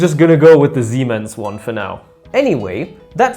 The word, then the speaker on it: Siemens: I'm not sure how to pronounce it in English, but that's how you pronounce it in German. Siemens.